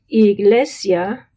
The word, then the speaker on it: iglesia: Likewise, iglesia, iglesia. So you hear the sia, I and A are together.